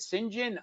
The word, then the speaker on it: St. John's: Oh, they're telling me how to pronounce it. St. John. Okay, whatever you say.